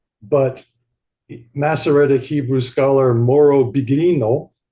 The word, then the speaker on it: Biglino: Because Elohim is translated as God, but Masoretic Hebrew scholar Moro Biglino, or Bilino, is the way they pronounce it.